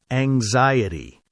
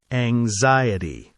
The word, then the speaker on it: anxiety: Word two, anxiety. Anxiety. Say it. Ang-xiety. It's a little tricky to pronounce. The stress is on the second syllable.